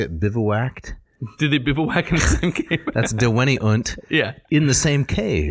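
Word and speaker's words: deveniunt: do you say it vivoact did it that's dewanyunt yeah in the same cave yeah so the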